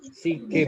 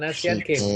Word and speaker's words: SEA Games: SEA Games bacanya. Seagames. Asian SEA Games. Games. Bukan Asian Games, tapi SEA Games SEA tanpa A.